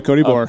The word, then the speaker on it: Bohr: It's Cody Bohr. Oh yeah, that's my friend who works at GOHUNT. So did I say his name right? Yeah, Cody Bohr.